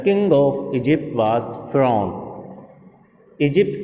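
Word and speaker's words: Pharaoh: The king of Egypt was फिरौन। Egypt का राजा फिरौन था। फिरौन के बारे में हम सुन चुके हैं। फिरौन जिसे इंग्लिश में प्रोनाउंस किया जाता है furrow, which mean the सन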